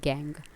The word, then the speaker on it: gangue: These minerals present as impurities are called gangue, pronounced as gang.